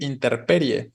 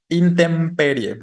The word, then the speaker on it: intemperie: el espacio abierto pero está mal decir interperie no lo correcto es más bien saben sabemos cómo es alguien tiene alguna idea de cómo se dice esta palabra o cuál es la forma correcta intemperie exacto no muy bien intemperie vale o muchas personas